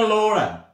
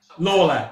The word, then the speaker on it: Lawler: Sorry, pronounce that again. It's Lawler. Laura. Lawler.